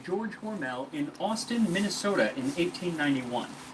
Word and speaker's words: Hormel: A can and he of said that it was pre-2009 hormel, as it spent. rhymes with normal.